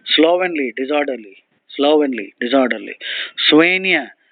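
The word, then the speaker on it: soigné: SL a d h slowly disorderly slowly disorderly swen s o i g n e swen elegant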